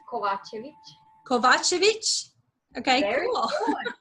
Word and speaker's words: Kovacevic: Is that how you spell it? Is that how you say it? It's Kovacevic.